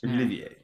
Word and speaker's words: Olivier: I didn't even fucking know how to pronounce his last name. So, Laurence Olivier, darling. Laurence Olivier. Yes. Olivier.